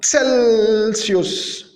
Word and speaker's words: Celsius: On remarque, on a deux prononciations différentes de la lettre C. Une fois, il se prononçait K, comme dans le mot de cousine, cousine, cousine. Et une autre fois, il s'est prononcé C, comme dans le mot Celsius, Celsius, Celsius.